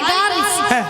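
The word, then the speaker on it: girls: শোনো মাসি, হাই গেলাস বলে না, বলে হাই গার্লস। High গার্ল। গাল নয়, বলো গার্লস।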